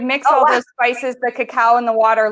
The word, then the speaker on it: cacao: You can purchase it pretty much any store now, but just look for cacao. It's spelled CACOA. AAO. Yeah, right, instead of cocoa powder. So cacao powder versus a cocoa powder.